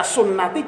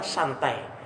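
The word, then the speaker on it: سنتي: Harusnya dibaca sunnati, dibaca santai.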